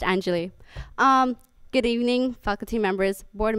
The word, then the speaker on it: Anjali: Hi, and once again, it's pronounced Anjali.